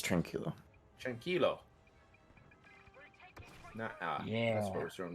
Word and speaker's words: tranquilo: what he said yeah trunkia or no i can't say it right now what's wrong with me i know spanish is tranquilo yeah that's what was